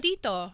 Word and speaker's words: Tito: Tito.